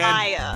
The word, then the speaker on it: Maya: What's the pronunciation again? Maya.